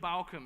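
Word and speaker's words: Bauckham: So Bart Ehrman is spelled E-H-R-M-A-N. So Craig Keener and Richard Balcom are good for the biographical side of things.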